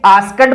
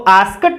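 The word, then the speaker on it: asked: इसी प्रकार से देखिए आस्कड बोलते हैं हम इसको, लेकिन ED से पहले के आया है जो कि T के अलावा अनवॉइस्ड कॉन्सोनेंट साउंड है, तो इसको आस्कट बोलेंगे, आस्कड नहीं बोलेंगे।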